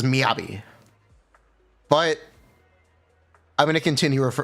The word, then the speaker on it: Miyabi: Miyabi isn't exactly or Miyabi. I believe it's technically Miyabi. The correct way to pronounce it is Miyabi.